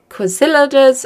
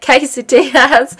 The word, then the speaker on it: quesadillas: So the meal idea is quesadillas. Oh, that's not how you say it. Quesadillas. Sausage, bean and cheese quesadillas.